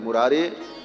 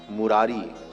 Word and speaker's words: मुरारे: श्री कृष्ण गोविंद हरे मुरारी हे नाथ नारायण वासुदेव लेकिन इसमें लोग एक शब्द जो बोलते हैं मुरारी मुरारी नहीं मुरारे ऐसा उच्चारण श्री कृष्ण गोविंद हरे